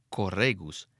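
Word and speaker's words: χορηγία: Esta palabra en griego se pronuncia corregus y se refiere al corega, o sea, al líder del coro.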